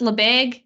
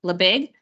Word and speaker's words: Lebesgue: think that way does it's pronounced leag it's written L EB SG e leig so I need to